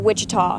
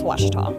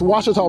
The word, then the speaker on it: Ouachita: for Washita Baptist University back in Texas everybody pronounces it Wichita but really it's Ouachita Washington how would you pronounce it it's Ouachita Baptist University get it right it's Ouachita people it's Ouachita wash your tongue make print